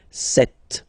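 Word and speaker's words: sept: all right then here remember B is not pronounced okay doesn't exist so you got this set sound set set okay then here final T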